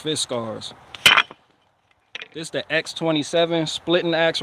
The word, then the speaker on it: Fiskars: Swedish Fiskars that's how you say it is pronounced Fiskars x-27 splitting ax right here and this thing